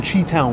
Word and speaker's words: Chi-Town: It's pronounced Chi-Town.